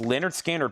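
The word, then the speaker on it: Lynyrd Skynyrd: Leonard Skinner pronounced.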